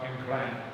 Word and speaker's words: Nkran: So again, this is a mispronunciation of Nkran, and that's how you got the name Accra. So Nkran is Where we are.